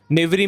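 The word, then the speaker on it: knavery: आपकी स्क्रीन पर है नेवरी नेवरी में के साइलेंट है नेवरी का अर्थ होता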